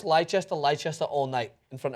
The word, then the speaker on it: Leicester: to a pub and you're going to I'll pronounce leester leester all night in front of a bunch